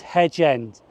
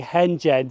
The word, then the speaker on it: Hedge End: This is Hedge End. And yes, at Eastleigh it did say Henge End, and that is mispronounced.